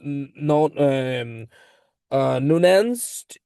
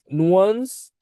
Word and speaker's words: nuanced: And finally, this approach, like produce non nuanced sorry, pardon, it should be pronounced like, nuanced, evidence based insight, that basically supports sophisticated brand positioning decisions, which is tailored to specific consumer needs.